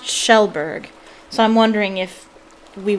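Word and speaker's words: Kjellberg: and everybody think it's everybody thinks it's pronounced kajelberg but it's pronounced shelberg so i'm wondering if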